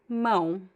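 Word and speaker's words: mão: You could pretend there is the N at the end. It's okay to make the last vowel nasal as well.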